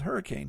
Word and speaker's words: Hurricane: a town called hurricane it's spelled hurricane but uh anybody that comes in the area and says oh this is Hurricane huh then we know you're not from around here because everybody pronounces it hurricane so that's one of